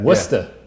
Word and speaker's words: Worcester: How do you pronounce that? Worcester.